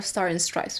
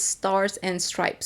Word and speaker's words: Stars and Stripes: I've been saying her name wrong. I'll call her Star and Stripes, but apparently it's Stars and Stripes.